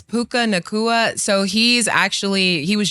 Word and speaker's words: Puka Nacua: How do you How do you say How do you pronounce that wide receiver name again? Yeah, it's Puka Nacua.